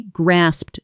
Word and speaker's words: grasp: Grasp ends in a firm, clipped consonant cluster. SP. Don't soften it into grass. Keep that final P.